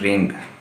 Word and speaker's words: wring: इसमें W silent है, डब्ल्यू के बाद जब भी आर आएगा डब्ल्यू साइलेंट हो जाएगा, जिस तरह rate, WRIT rate, WRITE राइट, ठीक है, WRONG रॉन्ग, तो WRING रिंग, ठीक है जी।